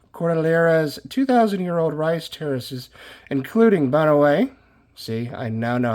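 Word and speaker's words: Banaue: Banao Rice Terraces, pronounced Banawe. Banawe. Okay, so now I know that's the Banawe Rice Terraces.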